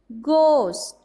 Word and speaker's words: ghost: We pronounce the word guide, tongue, ghost. Another example is ghost, honest, or. Here is the silent letter is letter H. H is a silent letter because we do not pronounce it.